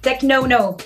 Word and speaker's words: Technono: to start by talking about your latest single tech no no that's how you pronounce it right yeah something like this yeah